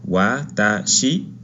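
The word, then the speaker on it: 私: Este kanji se lee con las 3 letras que tenemos acá abajo: watashi, watashi, ¿ok? Entonces cada vez que leamos este kanji vamos a leerlo como watashi.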